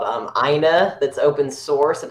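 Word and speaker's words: IINA: really good media player for mac called um aina that's open source and it's a lot better than vlc oh really okay aina i i n a is how you spell it sounded like it sounded like it came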